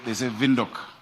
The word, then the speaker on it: Windhoek: They say Windhoek. We need to learn how to pronounce it.